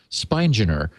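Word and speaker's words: Spigner: It's s pi g n e r spineer.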